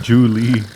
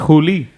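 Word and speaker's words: Hu Li: I think it's Julie. It's Huli.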